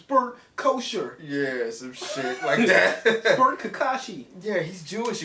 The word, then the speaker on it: Bert Kreischer: know come arrest us it's not bird creatures Bert kosher yes Kakashi yeah he's